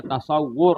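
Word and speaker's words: تصوّر: Tasawur, nah pada tasawur bacanya tasawur lah.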